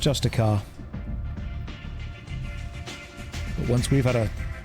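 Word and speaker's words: Justicar: yeah she's a justia I know it's pronounced justic car but once we've had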